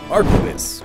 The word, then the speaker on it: arquebus: Now I have to learn Spanish pronunciations. Arquebus.